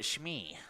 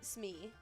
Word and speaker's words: Smee: Is it Shimmy or is it Shmee? Shmee. Like, you know, like the Captain Hook? Shmee, it's spelled differently. But still pronounced the same. It's actually Smee. There's no H.